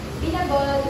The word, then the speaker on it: binagol: last 2012 next binagol binagol is pronounced Longer stress on a pinagol is made of